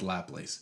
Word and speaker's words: Laplace: It is spelled Laplace, by the way. For years I said Laplace. It's Laplace, apparently.